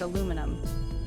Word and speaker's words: aluminum: In American English, we pronounce it with a nice, strong sound at the beginning.